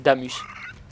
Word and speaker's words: Damas: Bizarrement, oui, ça s'écrit Damas, mais c'est Damus.